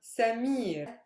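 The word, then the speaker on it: سمير: syllable super heavy yes for example samir is the last syllable super heavy yes mir is the last syllable it is super heavy because it's made up of a consonant long vowel consonant so this is where my stress lies listen samir which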